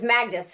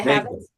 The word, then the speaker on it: Havas: And I believe we'll probably get back together, maybe even bring on Professor, it was Magdus, right? Is that how you say it? Magda Havas?